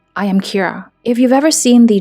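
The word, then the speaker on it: キラ: He starts killing anyone who threatens to expose him and hides behind the name Kira, which by the way is just how killer is pronounced in Japanese.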